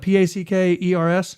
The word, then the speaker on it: Packers: do you spell that p-a-c-k e-r-s yeah indiana packers pack it's not packards it's packers packers okay and like you're